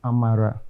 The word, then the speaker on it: Amala: Amala in the perspective that is the way my own side of the Eastern region pronounced. What's the meaning of that? It's grace. Oh. It still stands with the same thing with Amara. But some use L, some use R.